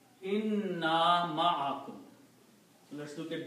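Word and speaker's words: إنّا: So this word is inna and this word is na. Okay. When we read these together, these two words, we do not pronounce the shadda.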